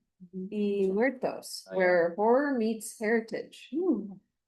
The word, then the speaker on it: Muertos: Oh, because it's on the second specific kind of it's um uh how would you how do you pronounce that? Muertos where horror meets heritage.